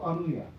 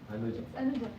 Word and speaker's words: Anuja: comprehensive survey from Anuha or Anuya? Anuja. Anuja? Yeah. Ah, okay. Because in some languages, this dot is sometimes Y, sometimes in Portugal or Spanish languages, it is H, like H. I mean the pronunciation says.